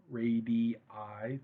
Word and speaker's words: radii: and constructive way um the plural of radius is radi radii three syllables there um so try not